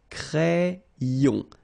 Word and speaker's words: crayon: So like if you would have I here, A-I, cré, and then another I here, ion. Crayon.